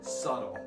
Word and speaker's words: subtle: So subtle is spelled S-U-B-T-L-E, okay? As in subtle, all right? But in the major phonetic system, we're not going to think about how it's spelled. We're going to think about how it's pronounced, okay?